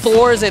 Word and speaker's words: Thorzain: They're like asking me, they're like, is it Thorzain? I'm like, I'm with Thorzain. I had to teach him to like put his tongue between his teeth to make the TH sound.